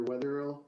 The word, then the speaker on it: Wetherill: the record please State your full name and spell it out my name is Wetherill k-e-n-n-e-t-h a-l-e-x-a-n-d-e-r weatherhill w-e-a-t-h-e-r-i-l-l do you swear